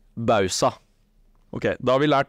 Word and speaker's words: Bausa: korrekt uttale på navnet du sier bausa det er feil og det riktige er bausa OK da har vi